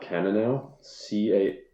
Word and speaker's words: Cannonau: there they call it Cannonau, Cannanou or something. It's like a place from the Bible, Canaan. Yeah. Cannonau.